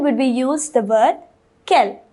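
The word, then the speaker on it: quelles: interrogative adjective and Kell they're all pronounced the same they all have the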